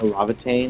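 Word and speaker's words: Laevatain: It's interesting that our code name is Levitane or Lavatane as is what it's pronounced in the original game.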